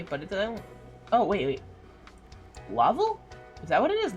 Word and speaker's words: Laval: Laval, Quebec, pronounced Laval.